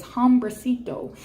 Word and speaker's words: hombrecito: And this is a Spanish word, and forgive me if I mispronounce this, but it's hombrecito.